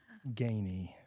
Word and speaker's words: Ganey: Miss, you thought I was gonna say your first name wrong. Belinda Gayy.